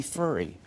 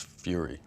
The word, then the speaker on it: Fury: anyway, tell us about this movie Furry. It's fury. Fury. It's not furry.